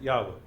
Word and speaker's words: Yahweh: Yud He Vav He, we pronounce it Yahweh.